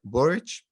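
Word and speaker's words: Boric: draft of the new constitution to president gabriel burrich right did i pronounce it correctly you did okay awesome and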